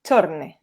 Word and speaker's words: Tschorne: Quítale la T y la S. Chorne, Ya. así. Shorne, ¿ya?